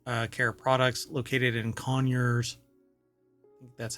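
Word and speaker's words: Conyers: and spa water uh care products located in conures that's how they pronounce it um Georgia has led to an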